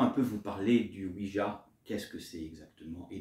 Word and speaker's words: Ouija: Le Ouija, prononcé Ouija en français. En anglais, on le dit Ouija.